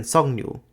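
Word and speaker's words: 석류: And these rules can combine, so clusters with giuk and riel are pronounced angna, as in songnu, meaning pomegranate. And that's not even going into the fairly significant amount of allophony in Korean.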